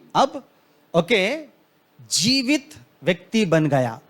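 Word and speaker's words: חי: नाम से बोलते हैं एक्चुअली वो सी एच ए आई ऐसा आता है मगर प्रोनाउंस जब हम करते हैं उसको गाय गाय का मतलब लाइफ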